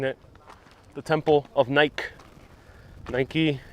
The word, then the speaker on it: Nike: Nike, if you're pronouncing it like the American company.